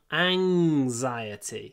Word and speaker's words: anxiety: say Ang xiety an anxiety so in anxious it's an sound but in anxiety it's a sound like in sang Ang anxiety anxxiety okay next